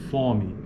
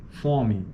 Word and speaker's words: fome: vogais tônicas orais né Em certas variantes Paulistas algumas formas como homem e fome são pronunciadas com vogais orais homem e fome formas como homem fome apresenta tipicamente uma vogal nasal na maioria dos dialetos do português homem fome é verdade